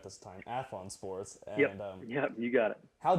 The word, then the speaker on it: Athlon Sports: Athlon Sports.